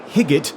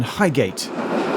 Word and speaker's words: Highgate: onboard announcer on the Northern Lang stock trains pronounced it more like hiot rather than Highgate the next station is Highgate Highgate station actually